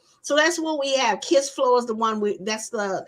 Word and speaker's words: Kissflow: Kiss Flow, just like it's spelled, KISSFLOW, and check it out.